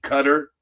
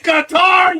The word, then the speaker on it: Qatar: 12 o'clock yesterday when they were saying cutter. CUTTER, IT'S QATAR, YOU MORONS. You talk to people from Qatar. And how do you pronounce your country? It's Qatar. It is Qatar. It's not cutter, you jackasses.